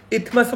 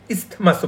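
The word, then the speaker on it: isthmus: এখানে লেখা ইথমাসও বলা যায়, ইসথমাসও বলা যায়, দন্ত উচ্চারণ করা যেতে পারে।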